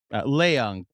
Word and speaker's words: Leong: Uh this was his second Leong potentially is how his last name is pronounced.